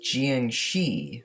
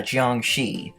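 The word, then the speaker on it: 僵尸: these are chinese zombies known as jian shi roaming around china sorry the correct pronunciation is a chiang shi so apparently according to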